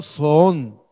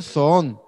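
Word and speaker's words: ζῷον: Puede ser pronunciado son, dice. ¿Cómo se pronunciaría eso? Son, dice. Vamos a ver. Y dices, yo diría son.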